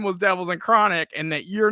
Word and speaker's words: Devilz N Crawnik: at all well yeah my name is pronounced and it's pronounced devils in chronic but no together we